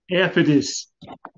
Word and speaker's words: Ephesus: Brother William, Ephesus. Is it if? I believe you are correct, Brother William, that it's Ephesus. Yeah, that's right. Which of the churches is the Church of Ephesus?